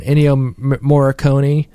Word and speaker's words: Ennio Morricone: a lot of in yo I'm saying his name wrong ennio morricone they gathered i'm the guy right yeah he